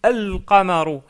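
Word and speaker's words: الْقَمَرُ: Par contre, on prononce bien le lem. On dit al-qamaru, al-qamaru, et non pas al-qamaru.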